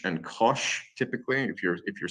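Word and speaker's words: cosh: function which defines an x coordinate and you pronounce these by the way as cinch and Kos typically if you're if you're speaking it um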